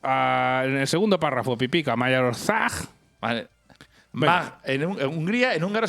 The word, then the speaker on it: Magyarország: pero lo voy a decir yo, que es Magyarország. Parece ser. A ver, léelo. Aquí, ahí primero. Magyarország. A ver, Pipica con su acento. En el segundo párrafo, Pipica, Magyarország.